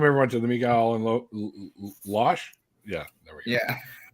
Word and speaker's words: Losh: Josh Losh. Well, Losh, I'll Losh. tell people, I'll be like, yeah, it's like Josh, and they'll be like, oh, Josh Losh. No, just that's how you pronounce it, but nobody can say my name.